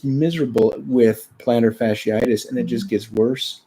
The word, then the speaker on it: fasciitis: Define plantar fasciitis.